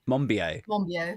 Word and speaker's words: Monbiot: So George I'm positive I'm not pronouncing his name properly. George Monbiot. Monbiot.